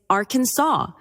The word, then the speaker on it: Arkansas: While Arkansas was named after a French pronunciation of a Native American word, the trailing S is silent in French. Hence, Arkansas is said the French way.